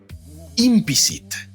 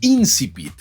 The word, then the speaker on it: incipit: a poder resolver, pero yo por mucho tiempo pensé que se pronunciaba impicit, no incipit, o sea, cambié la P de lugar.